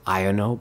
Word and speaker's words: Iono: I know that people most people pronounce it iono but I like to say EO no that's how I'm used to it anyway we get the